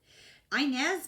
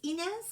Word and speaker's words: Inez: Inez made a really Inez, it's Inez, it's a Spanish name, but in this time period, I had a patient, a good friend, a neighbor whose name was Inez, is how she pronounced it. I know it's Inez, but you know.